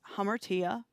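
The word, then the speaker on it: ἁμαρτία: you have the greek and it means it's pronounced hammertia and it literally means to miss the mark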